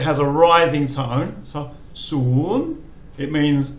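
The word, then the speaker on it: ศูนย์: So soon, it means 0.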